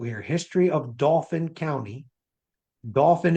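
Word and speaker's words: Dauphin: Dolphin is spelled very different, d a u p h i n.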